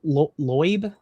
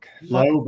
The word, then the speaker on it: Loeb: A important announcement from Professor Avi Lo Loeb Oh, Loeb, I think it's how you pronounce it. Loeb.